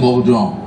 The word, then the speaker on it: Bourdon: Bila sebut Perancis kena sebut betul. Kalau ejaan William Bourdon, tapi kalau dalam bahasa Perancis William Bourdon.